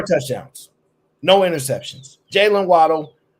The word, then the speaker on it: Waddle: Jalen Waddle, depending on how you pronounce it. That's Waddle.